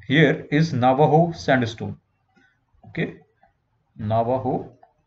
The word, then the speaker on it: Navajo: Okay, Navajo, Mexico mein J ko H se pronounce karte hai.